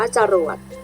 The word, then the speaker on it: จรวด: ว่า อัง อุ ตม์ หัว จรวด อ่าน ว่า จรวด เด็ก ๆ ก็ สังเกต นะ คะ ว่า พยางค์